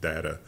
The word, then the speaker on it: Data: it reminded me of the story of Brent Spiner thought that his character on Star Trek should be pronounced data and then he heard Patrick Stewart do a read and it was like oh yes Lieutenant Commander data and then he was like nope yep it's data I'm Chang it now